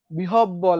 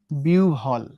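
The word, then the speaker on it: বিহ্বল: দেখো অনেকে আমরা কি উচ্চারণ করি, এটা বিহব বল বলি, তাই না, বিহ বল বলি, কেউ বিহ বল বলে, কেউ আর কি বলা যায়, মানে বি হটা উচ্চারণ হয়। কিন্তু এক্সাক্ট বা সুন্দর উচ্চারণ অর্থাৎ বিটিভির খবর যদি তোমরা দেখো, সেখানে দেখবা উচ্চারণটা কি হয়ে যায়, বিউভল, উচ্চারণটা কি হয়ে যায়, বিউভল।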